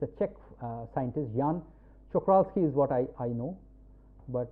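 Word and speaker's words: Jan Czochralski: I mean, I still don't know what is the correct pronunciation. It's a Czech scientist, Jan Čokralský is what I know, but if a Czech person pronounces well, it will be a little different.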